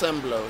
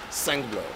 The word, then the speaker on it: Sengbloh: By the way, her last name, guys, the G is silent, right? So it's Sengbloh instead of Sengbloh.